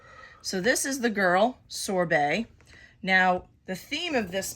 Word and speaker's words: sorbet: So I know there's a T, but the T is actually silent. So it's not sorbet, it's sorbet.